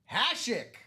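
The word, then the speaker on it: Hašek: Putting my pronunciation skills to the test. It's Dominic Hashik.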